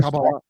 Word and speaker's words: Kabbalah: That's And the right way to say it, Kabbalah.